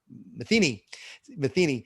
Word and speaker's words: Metheny: Tammy, who works with us, Metheny, I never pronounce her last name right. It's Metheny.